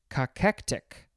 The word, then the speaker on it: cachectic: Next is one of those other words that are hard to pronounce. It is cachectic.